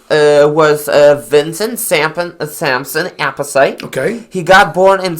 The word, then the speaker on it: Appice: Well, this guy's name is VINNY APPICE, and I believe Appice is how it's pronounced. Could be Appice. You know, he's got an Italian background. But I've heard it pronounced Appice by Ronnie James Dio, so I'm going to go with what Ronnie calls him.